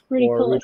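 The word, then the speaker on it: ruficollis: I believe it's, I'm pronouncing it right, it's a Ruticollis. Ruticollis, yeah.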